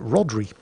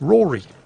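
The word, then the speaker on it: Rhodri: anything about celtic pronunciation usually when the letter d follows a vowel the d is silent so it's pronounced rory and that's what i'll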